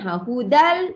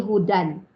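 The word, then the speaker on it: هُدًى: ok hudal hudalil Muttaqin hudal di situ hu tidak ada apa-apa tapi Dal tu ya tanwin ya pada ada tanwin atas makanya tanwin cara membacanya hudal tak jadi Hudan tidak jadi Hudan kerana kalau nak cara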